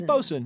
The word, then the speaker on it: bosun: Is it bosun or bosun? It's bosun. Bosun. Yeah, bosun is fine.